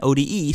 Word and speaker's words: Ode: ODI sounds like OD, and ODE. You know what you meant. Sounds like ode.